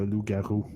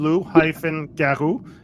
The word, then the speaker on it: loup-garou: It's written loup-garou because L-O-U-P is wolf. So in French, but it's the same pronunciation, but it's just not written the same way.